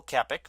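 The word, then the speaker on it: Kopech: A couple of other prospects included in that deal, including Michael Kepik. We found out that is how it's pronounced.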